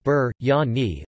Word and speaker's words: biryani: biryani pronounced Burt Yanni also known as biryani